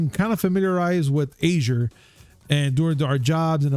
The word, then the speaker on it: Azure: to go and say it's actually pronounced microsoft azure azure yeah but again that's